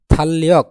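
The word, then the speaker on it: 달력: বাসি পর যদি রিউল থাকে তাহলে এই রিউলের উচ্চারণ হবে কি ল তাহলে কি দাঁড়ায় নিচে ল উপরে ল ল ল ল তাহলে থালিয়ক মানে ক্যালেন্ডার আপনারা যারা বাসীমের ক্লাস করেছেন তারা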